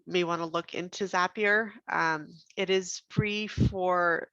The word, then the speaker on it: Zapier: to get back to zapier zapier makes you happier which is why how i remember how to pronounce it this is a great